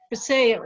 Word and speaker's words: Vasayo: Vasayo is how it's pronounced.